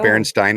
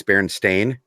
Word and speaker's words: Berenstain: It's not Berenstain, it's Berenstain. Oh. Stain.